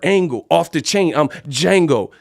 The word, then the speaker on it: Django: I'm Django. The D is silent.